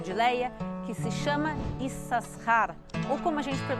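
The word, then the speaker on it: Issacar: Léia que se chama esses Rara ou como a gente fez um se o nome dele hoje em dia mas lembrei que o bíblico a pronúncia correta é is a rare então e sacar tem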